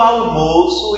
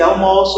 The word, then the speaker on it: almoço: Na hora que eu vou pronunciar, eu tenho um som fechado em almoço, que é justamente substantivo, o alimento, e eu